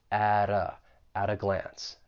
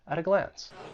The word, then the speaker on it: at a glance: And for pronunciation, once again, that T in at, I'm going to pronounce it with a flap T, and then I will link it with the vowel sound in that article, at a glance, at a glance.